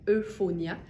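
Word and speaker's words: Eufonia: On va y aller avec une pièce de la marque Euphonia. Ça s'écrit comme ça se prononce.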